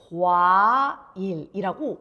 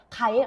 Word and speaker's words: 과일: 그 친구가 과일이라고 와라는 발음을 정확하게 하는가, 아니면 그냥 가일, 엄마 가일 주세요, 가일 주세요, 이렇게 말하는가를 들어보세요.